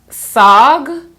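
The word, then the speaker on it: saag: KH also says sis sag OMG is pronounced SOG SOG by the way I'm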